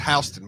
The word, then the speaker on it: Houston: I like Houston, Mississippi, and they say it's pronounced Houston, but I ain't saying that.